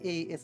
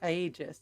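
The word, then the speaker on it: Aegis: I keep forgetting a e is actually pronounced e like e just which means sued it's not agis it's Eis they can't post in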